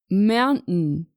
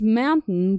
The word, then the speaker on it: mountain: In British English, it's pronounced mountain, mountain. And in American English, it's pronounced mountain, mountain. Here you drop the I in the second syllable.